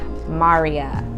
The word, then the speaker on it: Mariya: So it is Mariya, like Mario, but with an A instead of an O.